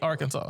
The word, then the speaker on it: Arkansas: our Kansas you know since I know now that it's Arkansas I can't stop saying AR Kansas and I feel like I never will say Arkansas what's so funny is